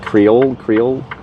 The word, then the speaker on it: Creole: It's like Creole.